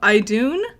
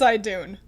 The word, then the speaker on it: Idun: it wrong you're wrong i'm 99 sure it's i dune so don't worry about